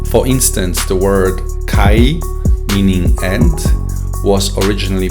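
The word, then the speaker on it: καί: For instance, the word kai, meaning and, was originally pronounced as kai.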